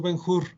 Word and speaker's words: Ben-Hur: Se llama Ben-Hur, yo la pronuncio Ben-Hur. Se escribe Ben con B grande y luego la segunda parte es H-U-R, H-U-R. Yo digo Ben-Hur o Ben-Hur, como lo quieran ustedes llamar.